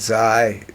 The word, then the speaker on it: Xi: Trump was going around saying that the Putin and Xi, that's how you pronounce it, the Chinese premier, Russian premier, North Korean, little Kim, were out there colluding against Trump.